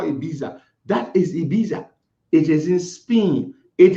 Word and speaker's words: Ibiza: That is Ibiza. It is in Spain. It is spelled, for those of you who might want to look it up.